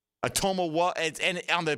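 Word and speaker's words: Otomewo: And the syllable you stress in the second name is toe, the second syllable. So it's like Atomawa. Atomawa.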